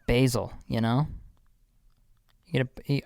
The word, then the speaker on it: Basel: It's pronounced Basel, you know?